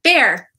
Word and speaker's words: Bear: pronounced it right because some people put an l in there it's not blair it's fair and i messed it